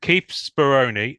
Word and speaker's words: Speroni: um is it 91 or 89 anyway um Keith speron am I pronouncing that correctly for a start nailed it